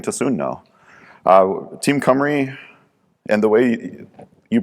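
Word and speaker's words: Cymru: soon know uh team camry and the way you pronounce that is comrade the easy way to remember that is to take the y and the u and flip them around and then that's how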